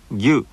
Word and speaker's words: ぎゅ: And if small dots are added after ki, the combination is pronounced like this. Gyu, gyu, yangyu.